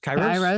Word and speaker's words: Kairos: That led him to start, and I'm going to probably pronounce this wrong, Kairos? Is that Kairos, close. Kairos, yes.